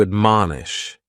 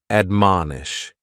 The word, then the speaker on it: admonish: first word is to admonish and admonish has three syllables and the stress is on that second syllable man admonish and this is a